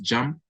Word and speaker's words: JMP: nice Rider or software called JMP I think it's pronounced jump it's one of the